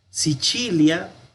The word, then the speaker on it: Sicilia: Sicilia, la C con la I suena como che.